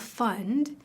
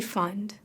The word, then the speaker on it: Pfund: So the founder of DBL fund is Nancy Fund. I'm not making that up. Her last name is Fund. It's spelled PFU ND.